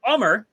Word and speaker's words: Ummer: It is not how it doesn't sound how it's spelled, but that's exactly like my name there.